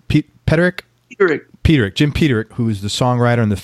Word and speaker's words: Peterik: and you're performing songs written by Jim honey pronounced Peterik Peterik Jim Peter who is the songwriter and